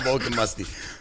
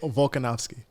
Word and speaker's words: Volkanovski: His name's not Vulcan Musty, bro. What's his fucking name? What do you think? How do you say his name? I don't know how to say it. Volkanovski. Volkanovski. Oh, I thought that's what he.